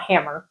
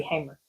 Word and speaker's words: Hamer: gathering is that the Hamer line, I think that's how you say it, because it's sure not Hammer, right? It's got to be Hamer.